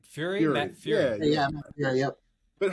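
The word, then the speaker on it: Furie: Frog and everything that's gone on with Matt Fergie and that whole thing. But how did Pepe sort of Fury? How do you pronounce his last name? Fury? Matt Fury.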